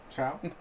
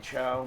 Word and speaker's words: Cho: Chow? Cho? Last week Most was people Chow. mispronounce it and say Chow. My name's Captain Cho.